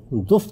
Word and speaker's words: دف: سامنے گیت گاؤں گی۔ یہ لفظ عربی زبان میں تو دف تلفظ کیا جاتا ہے، لیکن اردو زبان میں اس کا یہ تلفظ اب رائج ہو چکا ہے، یعنی دف بجاؤں گی اور گیت گاؤں